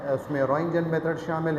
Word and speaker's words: Röntgen: फसेस will hello कॉन्रेट Ranjan T जो है इसमें साइलेंट है इन्होंने 1895 में डिस्कवर